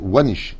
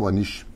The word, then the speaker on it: Wahnich: Ce shiur nous est offert gracieusement par Arlette Wanish, si je prononce bien, W-A-H-N-I-C-H. Je pense que c'est comme ça.